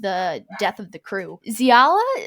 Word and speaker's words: Xiala: death of the crew xiala is that how you say her name in the audiobook they say shiala she becomes like i